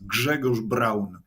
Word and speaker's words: Grzegorz Braun: Now, I should point out, I'm using the Western pronunciation of your first name. So to my Polish viewers, I apologize, but I tried for like 10 minutes. For your Polish viewers, my name is Grzegorz Braun.